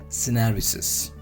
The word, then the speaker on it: syneresis: This pronunciation is Syneresis, also known as a whipping of a protein.